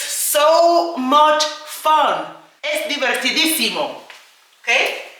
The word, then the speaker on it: divertidísimo: Es divertidísimo. Okay? Es di ver Remember divertido is fun. Diverti di Accent on the i, simo.